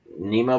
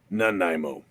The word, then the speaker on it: Nanaimo: Did you put coconut in your Nemo bars, too? Nanaimo. No. Yeah, I'm never gonna figure out how to pronounce that.